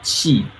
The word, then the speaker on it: qi: But when it comes to energy, qi, C-H-I, we call qi or Q-I. It's two different pronunciation.